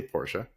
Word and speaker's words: Porsche: Apparently Porsche or Porsche, however you want to pronounce it, tomato. I say Porsche. I think the Germans say Porsche too, so they do.